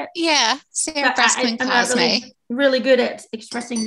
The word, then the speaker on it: Cosme: Is it Cosme? Is that how you say it? Yeah, Sarah Breskman Cosme.